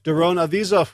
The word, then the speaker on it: Avizov: Blair Seibert, Daron Avizov, which rhymes with Keep the Cheese Off, Gio and Carolyn Argentati, Jody Friesner, and Ruth Ann Funderburk for your generous support of the podcast.